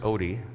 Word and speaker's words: Ode: my name is odie it's butchered norwegian for context that should have that slash through the o and i'm honored to